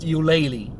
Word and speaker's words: Ulele: all kinds of different ways but it is pronounced ulele okay and uh it's very nice restaurant i